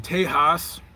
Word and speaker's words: Tejas: So currently we are in Tejas, Texas. That's what the Latino brethren say. That's how they say it's Texas. And so I'm going to